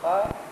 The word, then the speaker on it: خا: ہیں، ہاں، سا، اور دوسرا بتائیے خا جسے ہم خے کہتے ہیں، صحیح تلفظ خا، اور تیسرا حرف ظا،